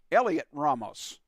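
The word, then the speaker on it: Heliot Ramos: here he is now here's a pronunciation that I think I have right spelled h e l IO T Ramos Elliot Ramos that's what I found online so hopefully it's correct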